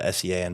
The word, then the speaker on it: Sean: So when I said, that's why Sean is spelled S-E-A-N, but it's pronounced Sean.